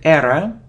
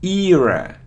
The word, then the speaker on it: era: it's a opinion opinion it isn't error or error now its era era era so see eeeh eeeyah